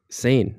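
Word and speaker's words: seine: what are you saying carp sane like essay insane sane yeah but you spell it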